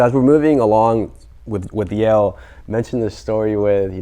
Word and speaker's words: Yale: But then I realized, my mom couldn't pronounce jail, so she was calling it jail instead of Yale.